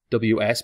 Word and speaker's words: ws: This introduces the new variable w's, ws pronounced w's, because it's more than one w.